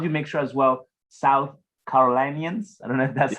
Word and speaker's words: South Carolinians: And how do you make sure as well, South Carolinians, I don't know if that's how you say it.